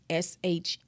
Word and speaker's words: Schomburg: Now, there was another person by the name Arturo, I hope I'm pronouncing this right, Schomburg, and it's SCHOMBURG. Again, SCHOMBURG.